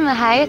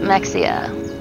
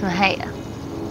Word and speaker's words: Mexia: welcome to Maha Texas my hometown most people pronounce it Mexia and it's not it's Maha and this here is